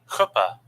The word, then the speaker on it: chuppah: Chuppah.